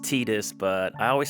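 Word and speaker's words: Tidus: 10 first of all I know it's officially pronounced tedious but I always said Titus is a kid it just makes more sense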